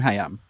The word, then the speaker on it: Hiam: Even the name Siham rhymes with her name Hiam.